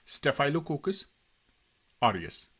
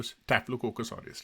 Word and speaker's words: Staphylococcus aureus: इसको स्टेफिलोकोकस ऑरियस भी आप प्रोनाउंसिएट कर सकते हैं, इस पर्टिकुलर वर्ड को स्टेफाइलोकोकस ऑरियस भी आप प्रोनाउंसिएट कर सकते हैं, लेकिन एक्यूरेट जो स्टेफिलोकोकस ऑरियस रहता है इसका।